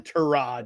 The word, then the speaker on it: Tyrod: No, I was told we had to pronounce it correctly. We have to say. Yes, We have to call him Tyrod.